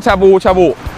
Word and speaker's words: ชาบู ชาบู: ครับ ร้าน ชาบู ชาบู ร้าน ชาบู ชาบู ออก เสียง ต่ำ ๆ ด้วย ดิ ชาบู ๆ เป็น